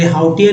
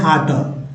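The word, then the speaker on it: hauteur: तो जैसे word is तो हार्टर, हार्टर, हाउटर कितना लोग पढ़ देंगे, हाउटियर पढ़ देंगे, लेकिन इसे हाउटियर नहीं पढ़ना है, पढ़ना है हार्टर।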